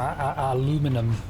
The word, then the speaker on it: aluminium: And I can mine some aluminum. No, aluminium.